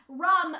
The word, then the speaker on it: Rum: yeah and then unfortunately rum who apparently her name is pronounced like ram but for some reason